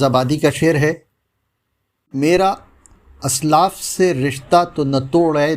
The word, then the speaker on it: اسلاف: رہیں گے۔ دوستو، آج کا لفظ ہے اسلاف۔ اسلاف بولا جاتا ہے جو غلط ہے۔ اس کے